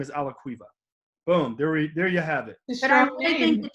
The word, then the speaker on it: Alaquiva: end so and the last name is a la cueva boom there you have it i think the